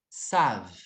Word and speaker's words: savent: Eles sabem, elas sabem, ils savent. Savent. Então, eu pronuncio até o ezinho.